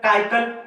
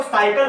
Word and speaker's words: cycle: भी पढ़ सकते थे, यानी इसको भी स, इसको भी स, साइकिल, इसको भी क, इसको भी क, काइकल, इसको क, इसको स, काइसल। लेकिन इसको स, इसको क पढ़े तो साइकिल हुआ, करेक्ट प्रोनाउंसिएशन हुआ।